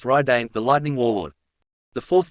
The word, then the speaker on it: Radiant: This was Radiant, pronounced Raidane, the Lightning Warlord.